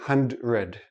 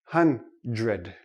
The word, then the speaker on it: hundred: really sound like dr we don't say hand red okay it's too difficult for the tongue to make the quick switch so this sounds like j.r hundred hun red hundred now this goes with